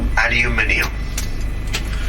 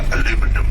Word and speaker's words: aluminium: It's called aluminium. Are we going to start pronouncing this word correctly? We'll have none of your aluminum around here.